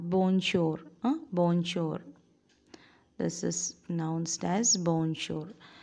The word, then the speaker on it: bonjour: france french okay france french and it is pronounced the j b-o-n-j-o u r bornshore bonjour this is announced as bonjour so uh these